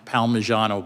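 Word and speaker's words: Palmigiano: In footnote one in Baxter versus I think it's pronounced Palmyano but don't hold me to that.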